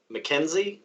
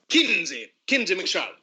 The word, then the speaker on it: Kinsey McCharlotte: Mackenzie, was it? Kinsey McCharlotte.